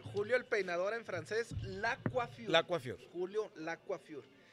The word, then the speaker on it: Le Coiffure: Lacuafiur quiere decir el peinador. Ah, es Lacuafiur. Lacuafiur, es como Julio se escribe así. Lacuafiur. Sí, nomás yo le cambié L-E. Pero realmente quiere decir el peinador de Julio. Está en francés.